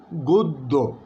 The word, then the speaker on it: গদ্য: একইভাবে বলছি আমরা, লিখছি আমরা গদ্য, কিন্তু বলবো আমরা সঠিক উচ্চারণ হচ্ছে গদ্য। গদ্য, দয়ের মধ্যে গোদ লিখতে দয়ের নিচে একটা হসন্ত আছে, তারপর দয় ওকার, গদ্য।